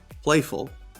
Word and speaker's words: playful: Playful is a 2-syllable word, and the first syllable is stressed.